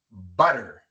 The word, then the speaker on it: butter: Colocamos la lengua en la misma posición como si fuéramos a pronunciar una R en español y sale el mismo sonido.